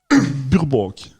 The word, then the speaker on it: Burbank: Burbank. Alors, je vous le dis, le bank, c'est B-A-N-K, et à mon avis, ça se prononce beaucoup plus bank. Burbank.